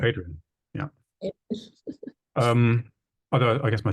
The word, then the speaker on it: Adrian: How do people pronounce your name just before I mispronounce? Adrian, yeah.